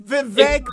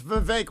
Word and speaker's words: Vivek: It's Vivek, by the way. It rhymes with cake. It's Vivek. I got trained by the Vivekian people. It's Vivek, rhymes with cake.